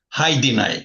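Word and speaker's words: Hajdinaj: And how do you pronounce your last name? Hi deny.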